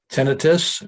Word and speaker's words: tinnitus: and temperamental joint complex tinnitus which is the correct pronunciation of ringing in the